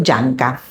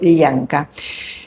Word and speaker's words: Llanca: Bueno, el protagonista de esta historia es Dionisio Yanca. Yanca dicho en argentino porque se escribe con doble l sería Dionisio Lianca.